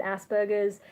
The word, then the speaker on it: Asperger's: I think there's like there's a few different ways people pronounce it I think just from our background we've always heard Asperger's which I know in an American accent probably sounds more like ass burgers or something um in